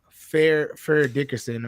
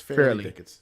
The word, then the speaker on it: Fairleigh Dickinson: it has to be Fair Dickerson or Farley Dickerson. How do I say it? How do I say it, Just Brian? say FDU, bro. No. FDU. Tell me the right way to say it. It's Fairleigh Dickinson.